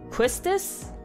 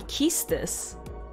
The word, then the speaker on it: Quistis: I always pronounced her name, Quistis, but it's supposed to be Kistis, and I'm like, oh, interesting.